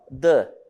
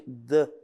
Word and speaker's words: the: Né, a pronúncia do artigo é mais perto de the, tá? Mas também, se vocês ouvirem the, também está correto, não tem problema. O que vocês não podem é pronunciar ele com o som de che, qualquer outra coisa, tá? Ele é de.